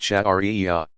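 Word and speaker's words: sharia: study and interpretation is called sherry a pronounced chat aria the divinely revealed law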